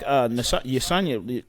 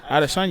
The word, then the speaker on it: Adesanya: But then you gotta look at like Yesanya, what is it? How do you pronounce it? Adesanya.